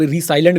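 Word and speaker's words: resilient: अब रिसाइलेंट भी बोल सकते हैं भाई आप लोग, हम तो रिजिलियंट ही बोलेंगे।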